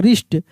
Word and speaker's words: wrist: हरी झंडी मिल गया, ठीक है ना, W साइलेंट रहेगा। जैसे यहाँ पे पढ़ेंगे राइट, WRONG, क्या पढ़ेंगे? Wrong, wrong. WRIST, रिस्ट, सब फोटो के साथ दिया हुआ है, देख कर आपको समझ में आएगा, रिस्ट।